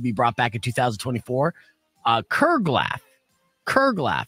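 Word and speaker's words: curglaff: The next word that's a long-lost word that should be brought back in 2024, Kerglaff. Kerglaff. It's spelled C-U-R-G-L-A-F-F.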